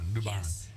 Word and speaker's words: Luban: you told me like Bond like James Bond Luban Midwest Curry's auction house